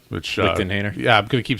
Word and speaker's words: Lichtenhainer: Unlike our Lichthainer, which Lichtenhainer.